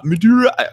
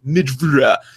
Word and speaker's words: Madureira: But there's another guy who made he's American, and his name is Madura. Okay, I've only seen it in print, and it's Madureira. And if my American delicacies know that, it's pronounced Midura.